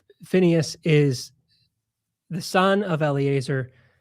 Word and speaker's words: Phinehas: Jordan, who is Phinehas or Pinchas? Yes, I do the Phineas pronunciation, which is also a bit of a how